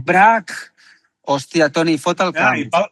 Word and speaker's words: Braque: George Braque. No se pronuncia así. Braque. No. Braque.